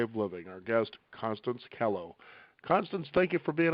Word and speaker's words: Kellough: about right that's right it rhymes with hello yeah kello okay see i kind